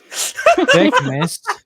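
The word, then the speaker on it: Thicknesse: Thickness.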